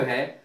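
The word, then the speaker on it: who: हु इसको कहते हैं से प्रारंभ होने वाले शब्दों में डब्लू का उच्चारण नहीं किया जाता है जैसे डब्लू एच ओ हु माने कौन हु का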